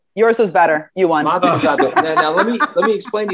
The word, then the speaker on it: Mazzucato: Mazzucato. Oh, wait. Yours was better. You won. Mazzucato.